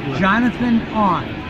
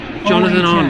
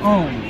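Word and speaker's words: Jonathan Ohnn: uh not to no Jonathan on Jonathan on that's right A lot of times they pronounce it own that's not right it's Jonathan own Jonathan on because he's Johnny on the spot right okay I like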